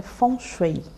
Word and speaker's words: feng shui: Várias escolas de que a pronúncia certa é fon xuei funchui é bom significa vento e